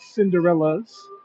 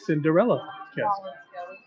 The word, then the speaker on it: Cinderella Castle: Not to be confused with the mispronunciation. It is not Cinderella's. It is not an act of possession. Prince Charming loved Cinderella so much that he named the castle after her. So it is Cinderella Castle.